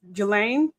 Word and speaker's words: Ghislaine: And it was told that they let Ghislaine, because the S is silent, they let her have a pet.